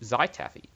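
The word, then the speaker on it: Zhaitaffy: well break them and it will give you zytavi yeah that's how you pronounce it even though it's darker than a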